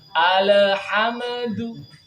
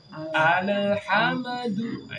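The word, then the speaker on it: الحمد: kita sing di sini Maka jangan dipantulkan jangan seperti ini bacanya alhamdu alhamduah itu memantulkan lam dan memantulkan mim mengqolqolahkan lam dan mengqolqolahkan mim sing tepat Bagaimana alhamdu alhamdu Iya Bagaimana supaya enggak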